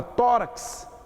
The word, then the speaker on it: tórax: No caso da palavra tórax, é o contrário. Eu tenho X, que vale por 2 fonemas.